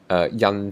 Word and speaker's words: 印: Radical number 97, this funny little looking thing here, yan ji pong means a seal.